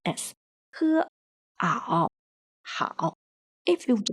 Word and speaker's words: 好: Letters A and O are together, pronounced as ao. The pinyin of the character 好 follows the third tone, so it pronounces as he, ao, 好.